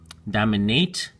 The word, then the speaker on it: dominate: have you note is in the verb form, dominate, it's a hard A, but for these familiar words, it turns into a soft A, so it's dominance. Well, this one is domination, so soft A, hard A again, domination, and then here's soft A, dominant, and dominantly.